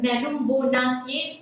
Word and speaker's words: Nelumbonaceae: You might have difficulties in pronouncing their name, but yeah, Nymphaceae for water lily and Nelumbonaceae for lotus.